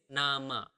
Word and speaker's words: nama: Name is nama. So quite similar, right?